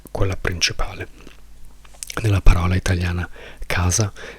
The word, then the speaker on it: casa: L'accento è sulla prima sillaba. Non diciamo casa. Se dicessimo casa l'accento sarebbe sulla seconda sillaba, quindi la seconda sillaba za sarebbe la più importante. Ma per puro caso la sillaba importante in questa parola è K.